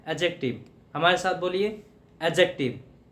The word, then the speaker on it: adjective: क्या होता है, एडजेक्टिव, ए और जे के बीच का जो डी साउंड होता है वो साइलेंट होता है, वो क्या होता है? एडजेक्टिव।